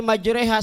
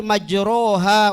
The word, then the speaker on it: majreha: Bismillahi majreha, sedih ya, sedih. Asalnya Bismillahi majroha wa mursaha. Dibacanya majreha karena tapaul kesedihan Nabi Nuh alaihissalam karena melihat anak yang tenggelam.